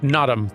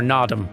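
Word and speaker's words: Naadam: saying here, or nadam, because like it's clearly a very strongly stressed first syllable. An aspect apparently of pronunciation of a lot of Mongolian language is unstressed syllables. So you know in the word nadam, after that very long stressed na, the dam is kind of like almost skipped over, like a dm sound, like nadam.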